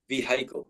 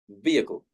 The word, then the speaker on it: vehicle: So Abdul Aziz has said that he often hears vehicle, like vehicle, but we say vehicle. Yeah, so the letter H is not pronounced.